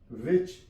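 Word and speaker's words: which: विच, WICH, विच, H silent है।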